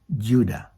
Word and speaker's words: Judah: yahwa Yehuda has now a Modern English version pronounced Judah so the name of leas son lost its